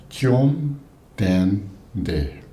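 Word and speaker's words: བཅོམ་ལྡན་འདས: That's 3 syllables. Jom, Dan, De.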